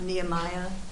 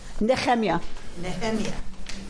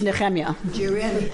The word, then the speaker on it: Nehemiah: don't worry you say Nehemiah huh neiah not Nehemiah neemia you can say it however you want but it's neemia in Hebrew so um and yahu is this